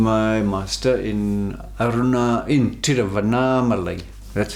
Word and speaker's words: Tiruvannamalai: up studying with my master in aruna in tiruvannamalai that's how they pronounced it terrafa naam alaihi and then you know the mountain arunachala is